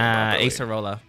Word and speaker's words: Acerola: Acerola.